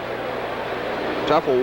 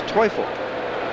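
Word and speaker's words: Teufel: up takes a strike i'm informed by my daughter-in-law who is from austria that is toefl is the correct way to pronounce tim's name there's a line drive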